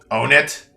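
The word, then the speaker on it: Onett: By the way, do you actually pronounce it as Onet or Onet? I've never actually heard anybody calling it Onet, but it would make sense if it was pronounced Onet. Pronounce it on it. Because, like thematically, it makes sense to pronounce it Onet, because you got Onet, Tucson, Threed, Fourside. So 1, 2, 3, 4. No. Stupid bear. Own it? Yeah. Sounds more like own it.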